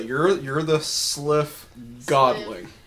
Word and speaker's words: sylph: Sliff. Sliff. Not a milf, a sliff. I'm not a milf! No, you say you're the sliff godling. It's not spelled like sliff. S-L-Y-P-H, okay, sliff.